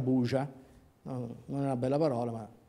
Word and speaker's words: Burza: Quindi, quando scoppia quella che in seguito sarebbe diventata l' Operazione Burza, il nome è scritto "Burza" ma pronunciato "Buja", non una bella parola, ma almeno se la trovi scritta da qualche parte.